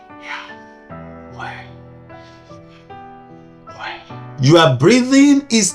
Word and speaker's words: Yahweh: It has no vowel, so you cannot pronounce it like you will just pronounce normal name, because it is not something that you can even pronounce with your lips and your teeth. You just need to pronounce it like a breath.